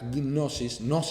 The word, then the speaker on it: gnosis: Bueno, hubo un grupo de hombres que se llamaban los gnósticos, o la gnosis decimos, la G no se pronuncia, la gnosis tiene que